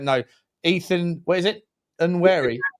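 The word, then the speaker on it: Nwaneri: Nweri. Nanwary. Nanwary. Okay. Nan Nanwary. Okay. This is for me. Nanwary is the echik tik for of you.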